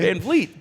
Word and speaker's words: Van Vliet: Thank you for pronouncing it correctly. Van Vliet.